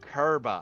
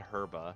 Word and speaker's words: Kerba: that RBA a Oh kerba I thought you said herba herba so kerba like that hold on Jus